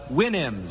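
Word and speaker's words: Houyhnhnm: It was from Gulliver's Travels, but it was from the mythical kingdom was the Winnims. Remember the Winnims? Supposed to pronounce it like you do a horse's whinny, I think.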